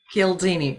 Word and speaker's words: Cialdini: Cialdini, right?